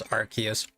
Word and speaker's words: Arceus: Yeah, in Japanese they say Arceus. For me it's Arceus.